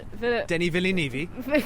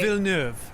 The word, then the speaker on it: Villeneuve: Denis Villeneuve. Right. That's not how you say it. It's way. Villeneuve. It's French. He's French.